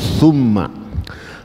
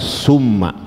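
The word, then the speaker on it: ثُمَّ: lagi D jadi bacanya innalladzina amanu tumma bukan tmma kalau tmma Sin yang dibaca tapi dibaca tumma ya nanti maknanya berubah tafadal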